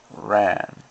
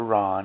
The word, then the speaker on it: Ran: now resume with kak Kurosawa ran or Ron as it's supposed to be pronounced a spy number